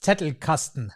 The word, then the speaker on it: Zettelkasten: And for those who know, well, Zettelkasten, it's Zettelkasten. It's a German word. And as I'm German, I think I can say it in this pronunciation as well.